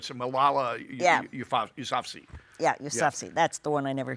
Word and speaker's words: Yousafzai: Malala Yousafzai. Right, the Nobel Peace Prize winner. It's Malala Yousafzai. Yeah, Yousafzai.